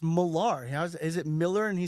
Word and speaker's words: Millar: That's Mark Millar, dude. Okay, it's not Mark Miller.